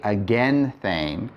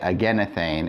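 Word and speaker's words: ἐγενήθην: And it's irregular because you don't expect that eta there, but it is. And again, it's probably because of pronunciation. If you say againthane, that's really hard to say. And so over time, it was just simply easier to say againethane, and then it became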